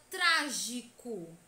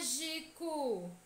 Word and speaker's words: trágico: palavras proparoxítonas são acentuadas a palavra trágico é proparoxítona por quê Porque a antepenúltima sílaba é tônica a trans trágico acima traz é mais intensa é aqui demora mais a ser pronunciada e SOS sílaba pode